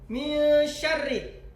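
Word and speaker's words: شر: Min syarri jangan terlalu tebal. Min syarri biasa aja.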